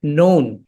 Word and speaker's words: known: আমরা ইংরেজিতে আমরা কিছু শব্দ পড়েছি, যেমন নৌন। তো নৌন শব্দটা KNOWN, এই শব্দের মধ্যে আমরা কিন্তু দেখতে পাচ্ছি যে কে এটি উচ্চারিত হয় না, সাইলেন্ট থাকে।